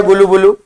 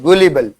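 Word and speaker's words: gullible: innocent तो भोला भाला का मतलब होता है इनोसेंट मीन वेरी गुड किसने बताया गुलू बुलू वेरी गुड गुलीबल और गुलीबल नहीं बोलते इसकी प्रोसेसिएशन है गलीबल क्या वर्ड है गलीबल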